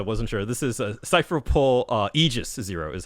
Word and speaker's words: Cypher Pole Aegis 0: This is a Cypher Pole Aegis 0 is how that's the pronunciation they're using here.